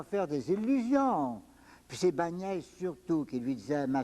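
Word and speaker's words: Báñez: le grand théologien Bagnès, on prononce Niès, Bagnès, hein?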